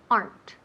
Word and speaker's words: aren't: okay very good so let's repeat aren't no they aren't AR aren't aren't one syllable or two syllables yes one one one so repeat there